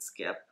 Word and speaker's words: Skyp: by Adrienne ku and skipper spelled SK YP she pronounces it skip i I've made this